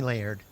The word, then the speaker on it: Laird: I'm Allison and this is my husband, Laird. Laird? Like lasagna? Lasagna? No, Laird. Laird. Laird. that right? Yeah, one syllable, Laird. Okay. Just call me Laird.